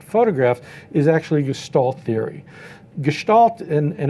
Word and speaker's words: Gestalt: of looking at photographs is actually gestal Theory Gestalt and and it's pronounced Gestalt is a theory of how we see things